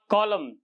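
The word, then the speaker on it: column: पहला पढ़ेंगे him, autumn, कॉलम, डैम। इनमें क्या है, एन से पहले एम आया है, एन से पहले एम, तो वो साइलेंट हो गया।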